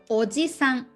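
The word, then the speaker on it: おじさん: grandfather aussie son grandfather you can compare with the um or ji san without um long e so when you make it short or this sound that's an ankle uncle all middle aged to men so there's a difference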